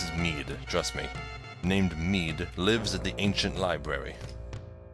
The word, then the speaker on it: Mid: This is actually pronounced Mead, not Mid. Everyone said Mid when this game first came out in North America, but it's actually Mead.